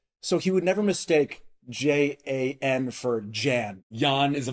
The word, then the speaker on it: Jan: So in German, J's have the sound of a Y. That's why Ja is spelled J-A, not Y-A. So he would never mistake J-A-N for Jan.